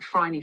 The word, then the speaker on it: Phryne: famous and so popular that it'll be like Phryne Fisher, which no one knew how to say that. But then Kerry Greenwood's books became so hugely popular that now everyone Mm, knows that it's Phryne Fisher.